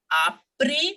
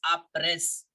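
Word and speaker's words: après: lower your hands born apre midi now we will not forget the first rule here the S I am not pronouncing it as a press no no sound of s it will remain silent born means good afternoon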